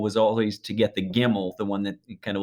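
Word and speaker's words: gimel: always to get the gimmel the one that kind of looks you know it's pronounced like a g because that you think gimmel gimme and so if you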